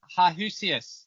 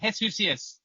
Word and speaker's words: Heshusius: for today and with me as always jusus no that's wrong hesus there you go welcome it's gonna take